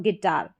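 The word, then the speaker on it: guitar: जी और you silent क्या है? यहां पर ग पढ़ा जाएगा। तो जी का उच्चारण तो ग हो रहा है लेकिन यू यहां पर कहा जा रहा है कि साइलेंट है। जैसे कि गेस और गिटार।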